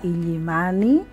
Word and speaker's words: Illimani: ¿Cómo debemos de pronunciar y escribir la palabra Illimani? ¿Illimani o Illimani? No es correcto escribir Illimani, sino Illimani.